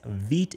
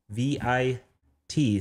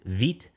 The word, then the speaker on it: Vite: dot vtjs.vitejs.dev and yes veet is how you say it uh they tell you the pronunciation in here saying it's the french word for fast pronounced forward slash v i t slash um which honestly